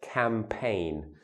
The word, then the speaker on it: campaign: use launch with a campaign notice the funny spelling the AI GM but it's pronounced campaign okay one of those words where the spelling doesn't look like the sound of the word to launch a campaign